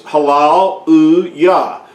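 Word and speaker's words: Hallelujah: old or older, and that phrase Halal U Yah is pronounced the same in any language throughout the whole world. They do not pronounce it any other way but a halal uya. Now they may spell it with a J, but they still pronounce it halal uya.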